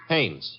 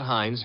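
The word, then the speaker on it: Haines: Hannes.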